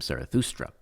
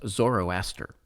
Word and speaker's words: Zarathustra: zerra belongs Zoroastrianism is based on a Greek mispronunciation of the prophet's name zarathustra whom the Helen referred to as zoroaster so the term Zoroastrianism